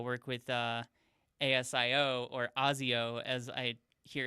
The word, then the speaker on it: ASIO: that to uh work with uh ASIO or Azio as I hear it's pronounced now.